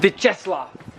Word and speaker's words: Vyacheslav: Today, me and Vyacheslav, that's how you pronounce his name.